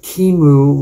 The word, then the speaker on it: QEMU: computer and it with linux kimu which is spelled with a qemu is the main containerization